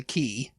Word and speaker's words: quay: And that's the famous photo of him standing on the quay. Call it a quay. It's like a dock. Quay. Pronounced key for some reason.